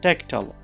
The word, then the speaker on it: tactile: t i l e it actually makes a sound here tell not tile okay fine so we can read the word now as Tech tall tactile the word here is